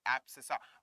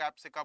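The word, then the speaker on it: abscissa: एब्सिसा, we call it एज एब्सिसा। कई लोग एब्सिका बोलते हैं, भाई जैसा बोलना है बोलो, बस स्पेलिंग सही आनी चाहिए, ठीक है, we call it एज एब्सिसा।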